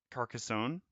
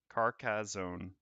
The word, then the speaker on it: Carcassonne: well you could easy Carcassonne Carcassonne hmm both respectable pronunciations need well for trying